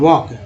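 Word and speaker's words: walk: यहां भी हल्के है जो एल यहां साइलेंट है सिर्फ के उच्चारण होता है वॉक अब तो यहां भी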